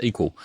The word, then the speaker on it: EQL: CEO and co-founder of equal that's eql pronounced equal he is a former